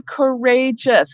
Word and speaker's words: courageous: Do I drop the E? No. No, because we do not want courageous. We need the E there too, so that the G can still say J.